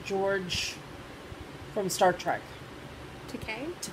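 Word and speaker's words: Takei: george from star trek to k to k i always want to say takai but it's that's right it's okay um it was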